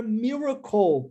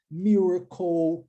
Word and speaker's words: miracle: E a palavra miracle possui esse mesmo som no final do LE. LE em inglês, finalzinho de palavras, nós temos um padrão linguístico, pronúncia ou. Miracle, circle, tá vendo?